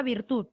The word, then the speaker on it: virtud: estás o no estás la palabra virtud aguda o grave prueba aguda muy bien aguda virtud tú dices virtud o tú dices virtud es espíritu de tierra la fuerza de voz está en la última quien está interrumpiendo el